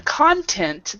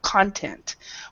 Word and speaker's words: content: So the first one, content, the stress is on the first syllable, content. Where this one, in this exercise, he is content with his job. The stress is on this part right here.